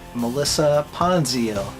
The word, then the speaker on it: Melissa Ponzio: Next one is from Melissa Ponzio. Yep, I'm 99% certain that's how she pronounces her name.